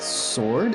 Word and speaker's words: sword: And then same with sword, and you might be thinking, well, what about that W? Well, the W is not pronounced in the English way.